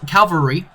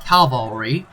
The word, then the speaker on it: cavalry: period historically at least cavalry calvary or as a viewer told me it's pronounced cavalry cavalry it's um cavalry